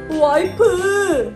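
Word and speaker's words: 와이프: The number four is "WA IH PEU" It comes from the English word "wife", but the pronunciation is a little different from the English one.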